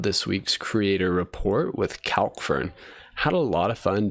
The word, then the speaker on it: Calkfern: So you can, people pronounce it Calkfern. I say Calkfern. I'm not too picky on that.